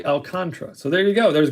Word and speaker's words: Alcantara: it's pronounced alcantara but sandy pronounces his name apparently alcantra so there you go